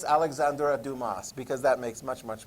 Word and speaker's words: Dumas: i think you're right i think it's alexander dumas because that makes much much more sense okay